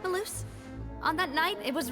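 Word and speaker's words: Melus: Maloose, we're back! That's how you say it again. Maloose.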